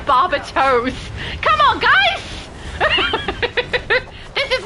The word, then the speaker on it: Barbatos: And now I'm going to be thinking Barbie Toes every time.